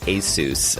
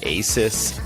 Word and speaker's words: Asus: forward slash radio and yes the company is pronounced ASIS I know that for years I called it Asus and many other people do it as well